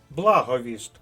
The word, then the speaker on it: благовіст: останній пункт нашого уроку слова з наголосом на перший склад нагадую для виконання тренувальних